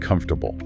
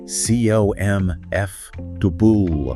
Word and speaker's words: comfortable: The word comfortable. Okay? C O M F O R T A B L E. Right. But when you hear a native speaker say it naturally quickly, it often sounds more like cf dubul. Kiko MF dubul. Yeah. That middle part just kind of disappear.